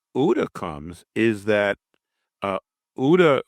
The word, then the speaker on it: OODA: Um, and then where UDA comes is that uh, UDA was it's spelled OODA. It's an acronym.